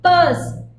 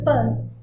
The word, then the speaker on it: Peirce: But if you read Daniel Chandler's Semiotics, the Basics, he says that this last name should be pronounced Peirce, the way you pronounce P-U-R-S-E. So this is Charles Sanders Peirce.